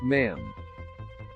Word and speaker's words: ma'am: it's your majesty thereafter it's just ma'am rhymes with ham how Meghan Markle described